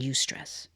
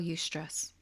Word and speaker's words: eustress: Of the difference between distress and eustress.